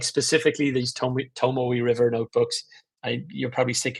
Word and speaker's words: Tomoe: So yeah, really, really great little Tomio River or how, I don't know how to pronounce them. Tomoe.